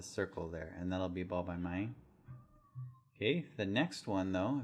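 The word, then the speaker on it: บ ใบไม้: So first of all, we have this one, ba by my, ba by my. Ba is a soft B sound. It's like a B sound.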